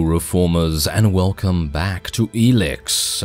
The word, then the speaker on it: Elex: and welcome back to elix as far as I'm aware that's how you say it still yes anyway we are